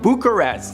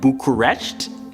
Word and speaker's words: Bucharest: And I know I'm pronouncing it wrong because I have a Canadian accent, but I think it's like Bucharest. I think that's closer to the actual Romanian pronunciation.